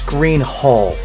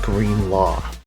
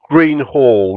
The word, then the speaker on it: Greenhalgh: It's Greenhalgh, not Greenlaw. Greenhalgh. You basically ignore the GH on the end, basically. Lately, Les has been working